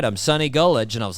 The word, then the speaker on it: Gullage: out the interview by calling him sunny gulage I don't know I don't know why I decided to pronounce his name like that but I was just like goulash that's how you do it and I really laid